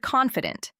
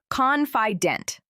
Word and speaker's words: confident: For example, the word confident. The stress is on the first part. Confident, not confident.